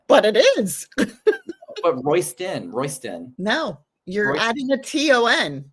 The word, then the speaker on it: Roysdon: It's not Roysdon. It's Roysdon. There's a difference. You're saying a T and it's a D.